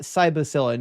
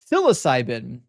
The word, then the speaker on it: psilocybin: Not cycllin. Yeah, I I those two syllables up a lot or those two uh parts of the word. Psilocybin, not cycllin.